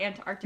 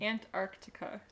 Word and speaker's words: Antarctica: I don't think it's important that you pronounce the second C. Or the first C? The first C. Antarctica. And I think you could just say Antarctica.